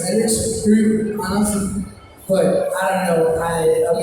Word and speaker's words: Alex Høgh Andersen: It's very hard to pronounce my name because I'm from Denmark. So it's Alex Høgh Andersen.